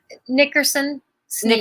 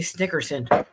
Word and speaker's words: Nickerson Sneed: Nickerson Sneed. Nickerson. Okay, Nickerson Sneed. For some reason, I always say Snickerson.